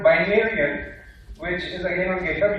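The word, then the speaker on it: Binaryen: Now, a fun fact here for the Game of Thrones lovers, Binarian is actually supposed to rhyme with Targaryen.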